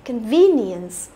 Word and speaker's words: convenience: Thế thì e sẽ đọc là i dài, đúng không? Convenience.